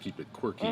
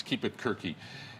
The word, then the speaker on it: KeepItQuerque: when you look at it it could be mispronounced keep it quirky but it's keep it quirky and joining us here at the big table